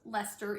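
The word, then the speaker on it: Leicester: I looked it up it's pronounced Lester even though it does not look like Lester and so it's a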